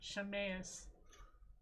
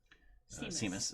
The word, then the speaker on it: Seamus: Seamus to the doctors, I get Shameus. Wait, how did you get Shameus from Shaemus? Which is funny because we tried to anglicize the name so that people wouldn't mispronounce it because... Well, not only that, we live down the street from apparently Seamus Avenue. Seamus, that's right.